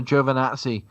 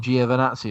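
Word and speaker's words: Giovinazzi: his own video out saying it's Antonio joov vanatti and then everybody still calls him giovanazzi it's like all right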